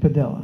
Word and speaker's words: Padilla: goes he now prefers Padilla okay but then his lawyer told me it's Pella rhymes with Gorilla okay um so let's